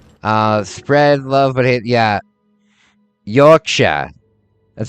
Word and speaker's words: Yorkshire: Yorkshire. That's how it's pronounced.